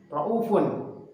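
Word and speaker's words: رءوف: Kemudian pembahasan yang kedua adalah kosakata ra'uf, ra'ufun. Ya. Kosakata ra'ufun. Di dalam bacaan riwayat Syu'bah an Asim min tariq Asy-Syatibiyah, kosakata ra'ufun, maka cara membacanya ialah dengan menghilangkan huruf waw atau membacanya dengan 1 harokat.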